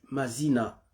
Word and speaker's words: Mazina: et puis Mazina. Donc M-A plutôt, donc je prononce en anglais, M-A-Z-I-N-A, donc Mazina.